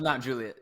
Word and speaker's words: Mount Juliet: This is Mount Juliet. Yeah. Yeah. Mount Juliet. Okay. Okay. Um and uh Yeah. So, why don't you tell everyone about uh yourself? Give a quick quick background, Alex. Uh Mount Juliet Buzz is uh ran I am one of